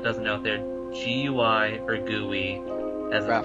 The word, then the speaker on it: GUI: in English I think we can just say gooey if for anybody that doesn't know their GUI or gooey as they pronounced around her face it's a term for